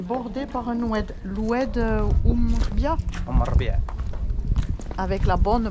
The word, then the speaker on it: Oum Er-Rbia: La ville d'Azemmour est le long d'un oued, est bordée par un oued, l'oued Oumbia, avec la bonne prononciation.